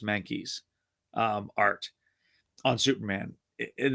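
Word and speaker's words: Mahnke: fan of doug i i believe it's pronounced monkeys um art on superman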